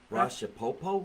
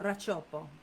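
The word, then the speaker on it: Racioppo: How do you say it? Racciapopo? Racciopo. Racciopo. Sounds like a great dinner.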